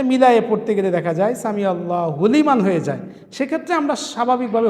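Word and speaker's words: سمع الله لمن: দুইটা একসাথে মিলায়ে পড়তে গেলে দেখা যায় সামি আল্লাহু লিমান হয়ে যায়। সেক্ষেত্রে আমরা স্বাভাবিকভাবে হুবাদ দিতে পারি না। আমরা লিকে একটু চাপ দিয়ে পড়লেই উচ্চারণটা সঠিক হয়ে যায়।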